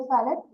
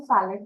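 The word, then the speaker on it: Fallot: First आपको पता होना चाहिए टेट्रोलॉजी ऑफ फैलेट होता क्या है. कोई इसे फैलो कहते हैं, कोई फैलेट कहते हैं. So that depends on your pronunciation.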